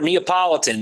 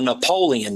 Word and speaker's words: Neapolitan: the top every breed that he mentions he mispronounces the breed name it's a for a Neapolitan he's calling it a Napoleon Mastiff and you know Kane Corso is a